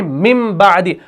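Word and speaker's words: مِنْ بَعْدِ: लेकिन हम क्या पढ़ते हैं? हम पढ़ते हैं मिदी।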